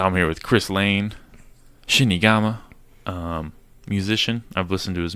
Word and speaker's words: Shinigama: How do you say it? Say it for me. Shinigama. Shinigama. Okay, I said that Yeah. right.